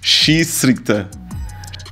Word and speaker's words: Schiedsrichter: Schiedsrichter. Okay, yeah, good. Yeah, Schiedsrichter, I think it's good, yeah.